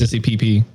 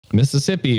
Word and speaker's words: Mississippi: My sissy PP. Instead of Mississippi. Yeah, I'm mispronouncing states wrong.